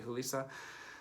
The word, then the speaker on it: Julissa: Also in this movie is, and I think we would pronounce her name Julissa because she's Mexican. Looks like Julissa for English, but I think it would be Julissa.